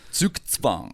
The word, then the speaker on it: zugzwang: Okay, yeah, because it's like a TS sound, like zooks, and then tzvang. Sukitsvang. Like TS, Oh like my tzvang. lord. Zugzwang.